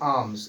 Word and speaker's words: alms: जैसे ALMS, ठीक है गाइस, इसको पढ़ते हैं आर्म्स।